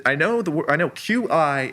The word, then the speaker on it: qi: My my basis is always just that I know the I know qi is chi is how you say that.